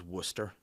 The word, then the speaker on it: Worcester: up the drive was worcester which i don't understand how it's called worcester when it's spelled warcester again people's discuss this